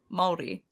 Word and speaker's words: Māori: Maori. You Yeah, you gotta roll your R. Kind of like a D.